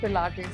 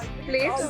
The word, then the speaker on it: Pilates: Has anyone ever mispronounced the word Pilates in front of you? Always. Yes. Tell us some fun ones. All Plates? the time. It's plates, pilates, so many variations to it.